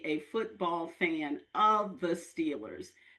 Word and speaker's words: Steelers: football fan of the Steelers. Excuse me. Excuse me. Remember, it's pronounced Steelers. Steelers. You're right. If you're from Western PA, it's Stillers. Thank you for reminding us. It's Stillers.